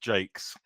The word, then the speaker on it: Jacques: people have different ideas it's pronounced Jake's okay gotcha okay cool